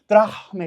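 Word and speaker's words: δραχμή: দ্রাহমে থেকে দ্রম্য দাম শব্দটির বিবর্তন হলো যেভাবে এটা একটু জেনে রাখো দ্রাহমে এটা হচ্ছে দ্রাহমে এভাবে উচ্চারণ করে এটা হচ্ছে প্রাচীন গ্রিক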